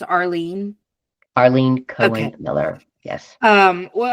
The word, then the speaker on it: Arlene: And is your name pronounced Arlene? Arlene Cohen Miller.